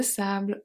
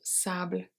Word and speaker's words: sable: Un château de sable, un château de sable, so sable, the E is silent, pendant que ma mère lit un livre.